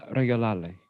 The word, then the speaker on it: regalarle: Ay Dios, si es la próxima semana, ¿qué vamos a regalarle?